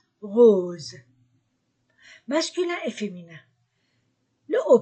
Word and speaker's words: rose: o O U ou s entre deux voyelles Z rose masculin et féminin le